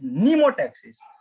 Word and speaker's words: pneumotaxis: It is pneumotaxis. Here meno, here pneumo. It is m is silent over here.